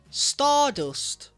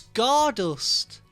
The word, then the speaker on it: Scardust: Stardust. Nightwish. Stardust. Similar. You know what I mean? Two syllables. Spacey. Oh, it's Scardust. Forgive me. I've only just clocked. Scar dust.